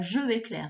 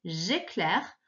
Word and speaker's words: j'éclaire: Alors, on avait le J apostrophe, c'est pas je éclaire, hein, c'est j'éclaire, et qui s'écrit E accent aigu, C-L-A-I-R-E. J'éclaire. Ma première question, eh bien, elle est très facile, ça va être celle-là.